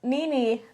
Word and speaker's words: Nini: Pronounce Nini like your two knees.